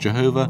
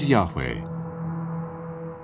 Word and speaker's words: Yahweh: is written YH VH it was probably not pronounced Jehovah but Yahweh only one object has